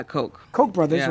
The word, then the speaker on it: Koch: Koch, is that how you say it? Yeah, Coke.